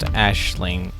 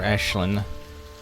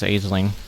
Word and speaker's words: Aisling: that's right so her name is pronounced ashling or ashlynn which is interesting i've been pronouncing her name is aisling or at i mean